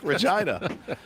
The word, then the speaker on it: Regina: city that rhymes with fun. Yeah. That's right. Regina.